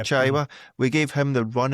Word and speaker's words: Chaiwa: They seem to drop off and gave was it Chihuahua? How do you say his name, Stephen? Who? Oh, Chaiwa, the midfielder, yeah. Chaiwa.